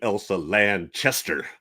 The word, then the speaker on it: Elsa Lanchester: She did make a comment too that said, apparently, if you pronounce her name wrong, she'd say, "It's Burt Lancaster. I'm Elsa Lanchester."